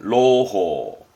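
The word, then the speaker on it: 朗報: 낭보. 발음은 로호.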